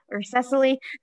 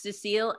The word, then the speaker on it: Cecile: Cecile or Cecily, you can unmute yourself. Hi, yes, it's Cecile and David Strand, and I will pass to David.